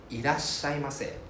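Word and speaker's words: いらっしゃいませ: Irashaimase. いらっしゃいます。 So the ira, right? IRA, right? They have double S immediately afterwards.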